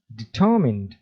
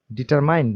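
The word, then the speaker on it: determined: উচ্চারণ খেয়াল করুন। ডিটারমিন্ড, ডিটারমাইন্ড না কিন্তু।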